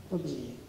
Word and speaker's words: Protégé: Bueno, la herramienta Protégé, ¿cómo se pronuncia? Protégé, francesa.